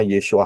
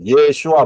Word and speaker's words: Yeshua: benar yaitu yesua hamasiah Yod Shin wau Ayin yesua bacanya yesua yodsin wau Ayin itu bacanya yesua enggak pernah ada Yin bawa Ayin dibaca Yesus enggak akan pernah ada ya